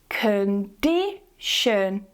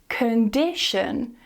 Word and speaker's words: condition: both in weak syllables, "condition", "cuhn-di-shuhn" .The only stressed syllable here is "di", it's that middle one, and it uses a stronger vowel.